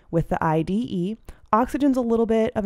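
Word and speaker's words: -ide: that last syllable with the IDE ending pronounced ID and so these are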